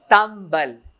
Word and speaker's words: تنبل: اچھا نگاہ کنید, یہ تنبل کو کیا تلفظ پڑھ رہے ہیں؟ تنبل. اردو میں کون سا ایسا لفظ ہے جو نون میم بن جاتا ہے؟ دمبا. ایک اور لفظ نہیں جس میں نون میم بن جائے.